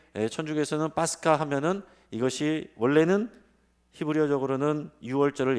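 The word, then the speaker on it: Pascha: 영어로 패스오버나 히브리어로는 파사인데 이것을 지금 이제 카톨릭에서는 파스카라고 읽습니다. 파스카.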